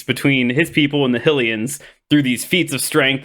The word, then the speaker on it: Hylian: Is that how you pronounce the Hylians? Hylians. Like helicopter.